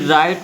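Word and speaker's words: write: फिर राइट में क्या साइलेंट है, डब्लू साइलेंट है। RITE का उच्चारण होता है राइट, बट द डब्लू का उच्चारण नहीं होता, ओके।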